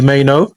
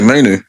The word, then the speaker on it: Mainoo: It's about Kobe Mainoo. How do you pronounce his name, by the way, Ash, as a United fan? I just say Mainoo. Yeah, Mainoo. Mainoo.